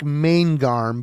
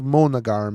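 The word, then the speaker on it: Månegarm: It looks like Maingarm, but there's like umlauts and shit. It's Monogarm is how you, and it's Vinglingas.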